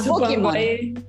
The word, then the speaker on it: Pokémon: Pokémon, porque la E se pronuncia como I.